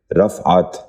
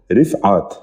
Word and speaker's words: رفعت: 16واں اور آخری لفظ ہے رفعت. یہ غلط تلفظ ہے. درست تلفظ ہے رفعت. دوبارہ سنیے، رفعت. بچوں آپ بھی ذہن نشین کر لیجئے، رفعت.